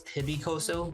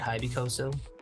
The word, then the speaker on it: Hybycozo: So I guess I was pronouncing it wrong. It's Hybycozo, not Hybycozo. We made up a word.